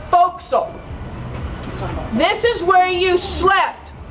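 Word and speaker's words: forecastle: word right here the for castle that's how it's spelled right if you were reading that would say for Castle well Sailors like to shorten their words so they called it a fil this is where you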